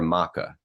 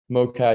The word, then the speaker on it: MoCA: And is it MoCA or MaCA? MoCA, yeah.